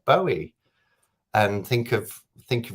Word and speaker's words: Bowie: that tortoiseshell moon says i pronounce bowie like you do too bowie yeah david bowie lots of people do don't they um and i was convinced it was by our way until something no no